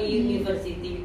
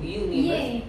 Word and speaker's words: university: Kalau university itu bunyi awalnya tuh Y atau U? U, university. Y betul.